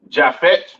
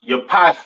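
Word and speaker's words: יפת: Next we have Japhet. All right, or Javeth. Some people like to call it. Right. Pronounced Yapath in Hebrew.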